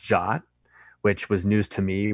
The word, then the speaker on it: JWT: so JP is briefly it's a Json web token it's actually pronounced jot which was news to